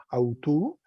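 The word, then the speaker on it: αὐτοῦ: Autos, genitivo autú, recuerden que ese dictongo OU suena U, autú, dativo auto y acusativo autón.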